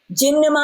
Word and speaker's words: gymnema: it's filled with mma but it's gem now ma gymnama is a plant that